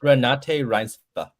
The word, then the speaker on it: Renate Reinsve: I'll pronounce it for you. Okay. Renate Reinsve.